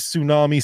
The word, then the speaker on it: tsunami: of God tell me why is tsunami spelled with a t nobody says TS tsunami T why do we have silent letters